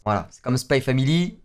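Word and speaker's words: Spy × Family: Voilà, c'est comme Spy Family, c'est pas Spy X Family, c'est Spy Family.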